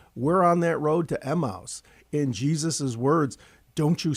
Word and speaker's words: Emmaus: I think in Greek it's Emmaus, but people will look at you very strangely.